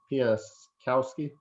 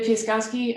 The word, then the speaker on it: Piaskowski: Piaskowski. Hi, yes, that's exactly how you say my name. I'm Piaskowski.